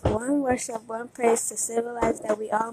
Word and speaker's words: Wun Worship Wun Praise: One worship, one praise is pronounced. One worship, one praise to symbolize that we all must be in one spirit to come together in one praise to our God.